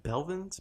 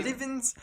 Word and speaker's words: Blevins: Just to close things off too, Ninja, aka Tyler Belvins. I don't know how to say his last name. Blevins.